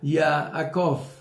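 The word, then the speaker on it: יעקב: talón o resultado y que se pronuncia yaakov de la raíz hebrea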